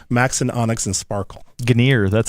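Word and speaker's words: Gunnir: Acer ASRock Ganer Max and Onyx and Sparkle ganir that's how you pronounce it Ganer Ganer okay I think I always said Gunner yeah well I think Gunner is an American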